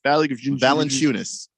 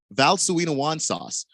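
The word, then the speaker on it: Valančiūnas: how do you say valenciunis or charles barkley once pronounced it val suena wan sauce which i like that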